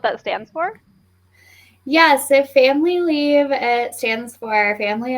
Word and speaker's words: FAMLI: And the acronym is also sort of like family, right? FAMLI. 100%. Yep. Do you want to tell us what that stands for? Yeah, so family leave, it stands for